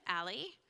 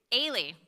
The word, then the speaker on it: Ailey: Next, in the middle of those two, is Alley. Am I pronouncing that correctly? Well, say it better. Ailey. Everyone says Allie.